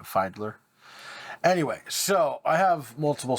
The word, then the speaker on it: Fiedler: fileder f-i-e-d-l-e-r file find fidler fidler fidler audio I believe I'm not 100 sure on how to pronounce that but I'm pretty sure that's how you do it Findler anyway so I have